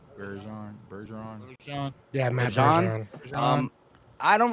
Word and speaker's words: Bergeron: Bergeron.